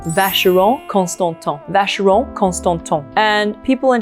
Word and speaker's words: Vacheron Constantin: And remember, the CH is like a sh, and whenever you see the N, it's nasally, it's So, Vacheron Constantin, Vacheron Constantin.